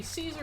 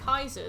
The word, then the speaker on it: Caesar: If they say Caesar as we do, they don't care for him. If they say Kaiser, they like him.